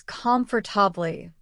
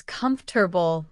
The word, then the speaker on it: comfortable: Many students pronounce it as comfortably with four syllables, but native speakers usually say it as comfortable with three syllables.